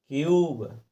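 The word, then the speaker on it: cube: जैसे क्यूब, देखिए यू को हमने यू लगाकर ही पढ़ा, देखो यू को हम हिंदी में ऐसा ही लिखते हैं ना, तो इसी प्रकार से हमने पढ़ दिया। नहीं तो वैसे तो यू से छोटा ऊ बनता है, तो हम इसको कुबे पढ़ेंगे ना, कुबे पढ़ सकते हैं, लेकिन कुबे नहीं पढ़ना है दोस्तों, क्योंकि हमें रूल के अनुसार चलना है।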